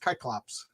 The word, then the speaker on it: Cyclops: or is it pronounced kyops wait wait wait wait what I I was always taught that the ancient Greeks didn't pronounce the C with no they didn't they use like a k I didn't even know